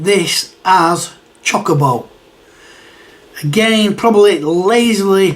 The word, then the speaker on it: Chocobo: it as you know breaking it down is in chocolate uh and Bowl choco Chocobo choker chocolate Chocobo how do